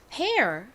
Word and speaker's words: pear: 여기서 E-A-R은 air 소리로 쓰였습니다. 근데 앞에 P가 왔죠? 그러니까 피읍 소리를 더해서 pear 이라는 발음이 되죠.